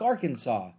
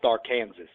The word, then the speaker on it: Arkansas: okay welcome Mitch and it's pronounced AR Kansas what Aransas uh I'm I'm pretty sure it's Arkansas well is it canas